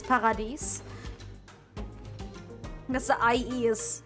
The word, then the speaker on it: Paradies: Paradies, actually. It's also basically spelled the same, but after the D, it's I-E-S. So, basically like the German word dies, but it's Paradies.